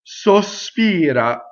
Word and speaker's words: sospira: So notice if I spoke, I could say Sospira, Sospira. But when I sing again, I have to separate that S. Sospira, Sospira. Okay, so make sure that that S is completely on the next syllable.